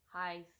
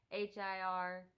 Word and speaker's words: Hirsch: Into the Wild, and it has Emil Heiss. It's so hard to say his name. Hirsch. Take that as you will. Try to say it yourself. I can't do it, so let's move on.